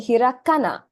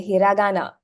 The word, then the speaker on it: hiragana: So instead of saying hirakana, it's easier definitely to say hiragana. It just flows out of your mouth.